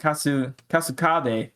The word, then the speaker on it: Kasukabe: Kasakube. I'm putting the emphasis on the wrong word, on the wrong place. But anyways, we also learned that Toge evacuated everyone from where are they at? Shibuya? Yeah, That's Shibuya, right? So Toge evacuated everybody from Shibuya and pretty much told them about Gojo's capture. And with that, it turns out that Kasukabe, that's how you say it.